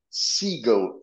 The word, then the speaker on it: Siegel: we are visiting Ethan Siegel am I pronouncing your last name correctly perfect that was perfect just like the bird uh you were a